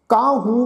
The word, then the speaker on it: काहू: फिर है जी कर्म करत होवे निष्कर्म, तिस वैष्णो का निर्मल धर्म, काहू फल की। ये शब्द है जी काहू, हाहे दे उपर टिप्पी लगा के उच्चारण करांगे नास की।